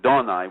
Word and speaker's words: Adonai: So we're going to put in Adonai, or which should be pronounced correctly, Donai, which means the sunrise.